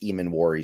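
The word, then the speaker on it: Emmanwori: And with Eman coming back this week and somebody in the chat told me that it's pronounced Eman Warry.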